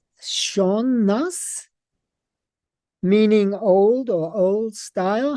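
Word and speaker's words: sean-nós: the Irish music tradition of is it pronounced sha nas meaning old or old style? How do you say that? Is that how you say it? Sham. Yeah. Sham no, which means old style.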